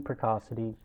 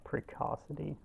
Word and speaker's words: precocity: typical example of learning precocity in conf is confirmed hang on i don't look up how you say that uh precacity precausity uh buh i don't want those precocity okay i'm saying it right a typical example